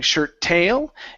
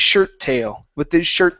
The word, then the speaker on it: shirt tail: Okay, so here you would emphasize the last word, saying shirt tail, and really pushing on that word upward. So we want to come down. Okay, so this is going to be with his shirt tail, So up on shirt, down on tail.